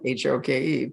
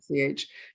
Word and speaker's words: Hoch: It's just, if you're looking for it, you might spell it Hoke. But anyway, it's Hoch.